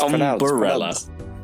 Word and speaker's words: umbrella: She says umbrella. Umbrella. She made it 4 syllables. Yeah. There is no letter in between the B and R in umbrella.